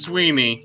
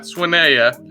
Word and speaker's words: Sweeney: name in this state, and that is Sweeney, and not Swinea, as some may have pronounced in the past.